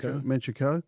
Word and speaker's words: Manchukuo: 1931, Japan invades Manchuria, established, how do you pronounce it? Manchukuo.